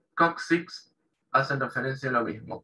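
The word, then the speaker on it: coccyx: se pronuncia como una caja por eso ellos pronuncian cóccix kuksiks para nosotros es coxis o hueso coxal le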